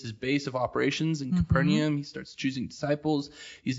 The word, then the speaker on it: Capernaum: What I've been told with biblical words, and you just say it with confidence and you're right, but I've always said Capernaum. Okay. I've added the more syllables.